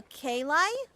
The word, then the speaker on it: Kayli: The IE part is pronounced as I. But I'll respond to you just any pronunciation. Oh, okay. I. So Kayli?